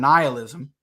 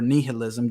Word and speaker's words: nihilism: doing a stream on nihilism or nihilism depending on how you want to pronounce it which is basically